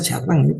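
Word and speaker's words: Chardin: Teilar de Shardán dice chardín, ¿no? Teilar de se pronuncia chardán, un francés espectacular.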